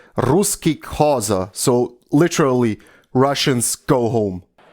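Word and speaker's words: Ruszkik haza: So it's pronounced "Ruski Khaza," so literally, Russians go home.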